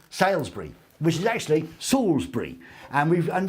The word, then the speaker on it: Salisbury: Salisbury. Salisbury, which is actually Salisbury.